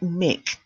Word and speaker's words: mic: Now, if you notice, although I'm saying it looks like mic, doesn't it? But it's short for microphone. So even when it's written short, it's still pronounced mic.